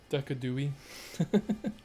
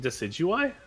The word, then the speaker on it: Decidueye: in that game too yeah I went uh decadooie oh yeah isn't it decidueye yeah it is okay okay I was like I'm pronouncing it wrong it was like I thought